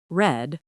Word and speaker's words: read: And meet, met, read, read, past is pronounced read.